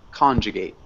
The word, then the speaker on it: conjugate: conjugate yeah conjugate um so we do emphasize the first syllable con conjugate good perfect and let's start